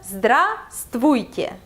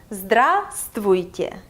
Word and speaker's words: Здравствуйте: Здравствуйте. Здравствуйте. And the accent is on the first syllable. Здравствуйте.